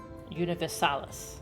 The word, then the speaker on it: Universalis: Universalis. Okay, that's how you pronounce that.